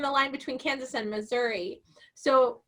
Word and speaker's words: Missouri: So, and also it's right on the line between Kansas and Missouri. So, or my grandpa would have said Missouri. So there's different pronunciations.